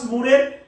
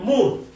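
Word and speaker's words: More: একটা সাহিত্য রচনা করলেন মুর। থমাস বাদ দেন, কেননা থমাস নামে আমরা অনেক সাহিত্যিক পাবো। থমাস কিড আছে, থমাস মুর আছে, আরো অনেক থমাস আছে। ওনার নাম হচ্ছে মোর না, উচ্চারণ করে মুর কি করলেন?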